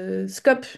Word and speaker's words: SCOP: Dans le monde de l'ESS, on prononce SIC et SCOP, même si c'est pas super logique.